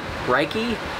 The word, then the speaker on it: Rike: Rike, R-I-K-E, that's how you pronounce it.